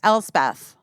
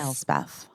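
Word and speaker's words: Elsbeth: No One Ever Knows correctly busy you okay El Beth yes El Beth um it reminds me of West Beth which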